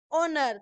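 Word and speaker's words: honour: क्या है हो गया एन ओनर तो उसमें भी क्या हो गया एच साइलेंट तो उसमें ओनर ही बोला जाएगा अभी हम ए एंड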